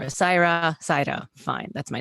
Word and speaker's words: Saira: it for people who can't half roll the r so saira is also fine but that's not how my name is pronounced and i'm not gonna i used to really care if people could pronounce the half r like the half roll the side you would hear like people say it with a d or whatever and it doesn't bother me anymore saira saito fine that's